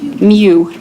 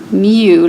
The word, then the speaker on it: mu: do you guys actually do you know how that's pronounced new like that's the way that I'd spell it your book says like em you like what a cat would say but that just sounds wrong to me it's mu is